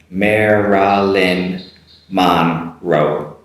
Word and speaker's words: Marilyn Monroe: you get the r and the l in there on the first name and you get the n and r and the second and the last name marilyn marilyn monroe repeat after me slowly marilyn monroe marilyn monroe uh could be quite difficult to pronounce that one cleanly marilyn monroe the third one maybe